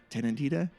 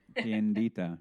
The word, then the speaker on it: Tiendita: On Friday, employees were seen testing Tenedita self-ordering kiosk. Did I say it wrong again? You said it wrong again. Oh, dude. It sounded right to me. Okay. Well, Say it again, Udi. Tiendita.